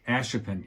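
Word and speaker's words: Ashippun: I have a friend who lives out in, is it a Shippen? Ashipin? Ashipin. Yeah, I keep saying the name wrong.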